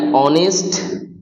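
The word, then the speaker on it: honest: যদি দেখি H silent আছে কোন শব্দে। যেমন আওয়ার অনেস্ট ম্যান। এক্ষেত্রে এইচ সাইলেন্ট।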